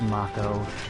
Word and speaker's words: Mako: is supposed to be, but look, it's a single K. It should be a long A in English.